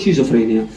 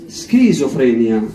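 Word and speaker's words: schizophrenia: شيزوفرينيا بالعربي، احنا بالعربي نقول شيزوفرينيا، بالانجليزي لا نقول شيزوفرينيا ونقول سكيزوفرينيا، كمان سكيزوفرينيا. زي كيمستري، ما نقولش احنا شيمستري صح، كيمياء نقول كيمستري. فبعض الكلمات اللي ذات اصول قديمه سي اتش تنطق ك كيمستري، وهذه سكيزوفرينيا.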